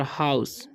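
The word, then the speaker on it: house: और हाउस, जब भी OU रहे तो OU का उच्चारण आउ हो जाता है, तो हाउ और AC का हो जाएगा स, तो हाउस पढ़ेंगे, ठीक है, ई का उच्चारण नहीं होगा, ओके।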